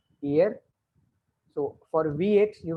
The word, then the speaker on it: hier: For yesterday, I think I told you one day the word is HIER, which is ear, ear, ear. H is silent, ear.